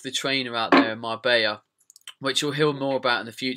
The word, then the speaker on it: Marbella: Anyway, I went to Marbella, which I like to pronounce as Marbella because it has got 2 L's in it. It's Marbella.